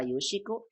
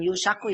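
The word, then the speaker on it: يوشك: Ada kada yakadu, yang kedua ausyaka yushiku, yang ini ya, ausyaka bacanya gini. Ini hamzah. Ausyaka yushiku. Bukan yushaku ya. Yushiku. Nah, satu lagi kariba tidak punya fi'il madi, tidak punya fi'il mudhari, maaf ya.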